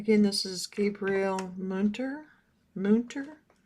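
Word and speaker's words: Münter: Mter I believe is how they said to pronounce it. Moon.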